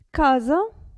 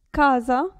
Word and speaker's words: casa: regole di pronuncia adesso esse tra due vocali attenzione a come si pronuncia casa presa casa presa quindi non si pronuncia come se fosse una s casa presa però se